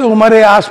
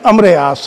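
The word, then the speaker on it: عمرو بن العاص: आस इब्न while के 10 बेटे थे, उसमें एक बेटा अमरे आस था, जिसे उमरे आस पढ़ा जाता है आमतौर से, मगर उसका प्रोनाउंसिएशन अमरे आस है।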